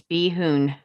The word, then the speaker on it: Bahun: Be it resolved, how do you pronounce that, Pat? I better say it right. It's Behoon.